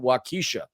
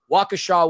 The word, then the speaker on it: Waukesha: lot of listeners apparently in Waukesha Wisconsin I pronounced it wakisha my bad Waukesha Wisconsin a lovely city about 16.5 miles away from Milwaukee with a population of 72 000. and the nice thing about Waukesha Wisconsin is they've given us all the likes